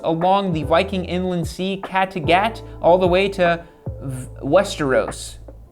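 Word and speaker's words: Kattegat: raiding the wilds along the viking inland sea catagat all the way to westeros that's that's how this is pronounced both both real places in sweden so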